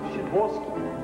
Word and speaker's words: Sadowski: Sadowski, Shaboski. A chance. Pronounced Shaboski.